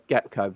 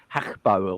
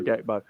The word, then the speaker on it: Gakpo: Gakpo deal, apparently, like we're saying his name wrong because they don't use the letter G much in Dutch in Holland, do they? They don't pronounce it as Gakpo or something like that. The way you pronounce it, innit? But yeah, we're English, so we're divs. But we're but we're going to say Gakpo.